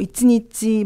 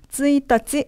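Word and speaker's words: 一日: 1일, 2일 하면 뭐 이치니치, 뭐 니니치 아니죠. 쯔이따치, 후츠카 이런 거기 때문에 여러분께서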